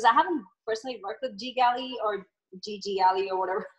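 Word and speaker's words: GGally: Because I haven't personally worked with Ggalley or Ggalley or whatever. It's Ggalley. I've been mispronouncing it.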